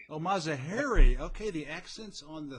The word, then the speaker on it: Mazaheri: no but very few people do it's mazaheri oh mazahery okay the accents on the third syllable all right gotcha well hey for everybody